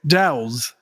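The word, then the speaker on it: Dauz: Shona, co-lead vocals, and D-A-U-Z, how would you pronounce that? He's on bass. Dow's.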